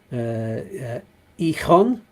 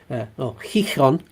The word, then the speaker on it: Gijón: few places there, including Gijón, that's how you pronounce that. Gijón. That's a difficult one. Lots of letters that are slightly different to pronounce in Spanish there.